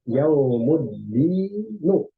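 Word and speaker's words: يوم الدين: Maka kita harus hilangkan tanwinnya. Jadi dia berubah yaumuddinu.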